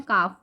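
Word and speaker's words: calf: हम प्रोनाउंस कर रहे हैं। काफ एल यहां साइलेंट है।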